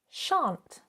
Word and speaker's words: shan't: We wouldn't say shan't. We say shan't.